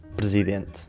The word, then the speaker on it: presidente: Um bom exemplo é a palavra “presidente”, em que omitimos o primeiro e último “e”, pronunciando “prsident”.